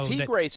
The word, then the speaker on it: Tigres: I know Tigres is how you say that, huh?